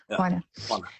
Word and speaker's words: Juana: For those of you who don't know how to pronounce Hana, it's spelled J U N A and is Spanish and the sound of the J is like an H in English. So it's Hana.